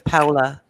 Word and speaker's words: Paula: the Spanish influence when they say Paula. It's Paula. Paula. Paula.